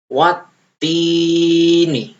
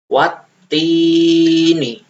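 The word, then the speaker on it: والتين: Cara bacanya wattini. Kalian bisa mengulanginya ya. Saya ulangi, wattini. Di sini ada tasdidnya. Kalau ada tasdidnya, berarti bacaannya double, ya. Kalau tidak ada tasdidnya, bacanya gini, wattini. Tapi kalau ada tasdidnya, ini tasdid namanya, itu dibaca wattini, ya.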